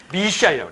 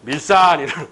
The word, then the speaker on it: 밀산: 러시아 애들 이걸 뭐라고 그러냐? 미시안이라고 그래. 미시안. 러시아 애들이. 그래서 이걸 미시안이 발음이 힘드니까 한국인이 밀산이라는 거야.